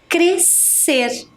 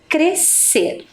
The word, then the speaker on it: crescer: Nascimento certo outra palavrinha crescer temos duas consoantes que se uniram formar um único som crescer Ok temos também a